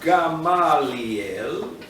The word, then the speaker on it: Gamaliel: so let's go back so comes along rough Gamliel Robin garlic correctly pronounced Gamaliel from the word kappa gamma dl it's relevant